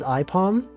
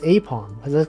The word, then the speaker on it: Aipom: Oh, but I remember he did pronounce Apom as IPOM. And I was like, no, it's Apom. It's like an ape. It's got like a palm.